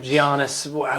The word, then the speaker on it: Giannis: take everybody out if Giannis. I don't know. It's going to be bad. See the G is silent. It's Giannis. Giannis.